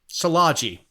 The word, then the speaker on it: Szilagyi: He's like, it's like sausage, Szilagyi.